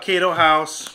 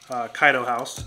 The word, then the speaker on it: Kaido House: i've been talking about cato house kaido house okay to hokkaido house however you pronounce it i am always saying it wrong kaido house is how you say it i i did